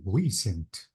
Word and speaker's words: recent: Recent, Yeah, the stress is on E, recent. recent. Yes. So the stress is not on C like recent, it is recent.